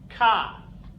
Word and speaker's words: K: The letter J is pronounced Yot. The letter K. Ka.